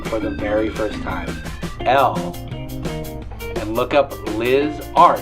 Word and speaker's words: Elle: And Elle is just Elle. Yeah. So just Elle. Don't try to spell it out like I did. I thought I said, is it E-L-L-E? No, it's Elle.